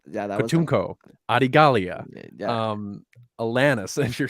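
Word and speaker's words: Katuunko: He then sends Savage to Toydaria to capture King Takun. Katunko. Takun. Katunko. Katunko. Dude, I'm so bad at I pronouncing.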